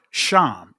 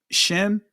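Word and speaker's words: שם: Sham is the ancient pronunciation of it. Shim or shame, right?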